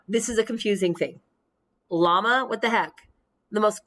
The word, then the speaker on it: llama: right from south america that double l tells me we don't call it a yama we call it a llama that word right there is a peruvian word not a spanish word that's why we have that la sound llama versus yama because that right there not the same thing yama peruvian it's a quechuan word the high andes um and it's using its original quechuan pronunciation so yama but normally